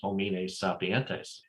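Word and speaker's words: homines sapientes: as plural but the the correct latin pronunciation is hominess sapientes for plural and i i put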